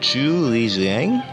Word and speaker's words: Chu Liu Xiang: something special for you guys today it's called to lijiang that's how you say it and it is